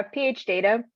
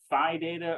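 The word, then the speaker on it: phData: Yeah, PH Data. PH Data, okay. I always say Phi Data or Pi Data, and I never know how to say it.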